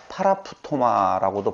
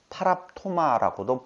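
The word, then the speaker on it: παράπτωμα: 하나는 하마르티아, 두 번째로는 파라푸토마라고도 발음하고 파랍토마라고도 발음하게 되어지는, 보통 성경에서는 범죄라고 하는 단어로 번역되어져 있는데요.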